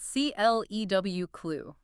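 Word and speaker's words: clew: Because if you look back to the old English origins of the word, it wasn't spelled C-L-U-E. Wait, really? No, it's spelled C-L-E-W, clue.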